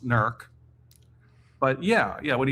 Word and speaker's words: Newark: and I said well first of all it's pronounced nerk but Yeah.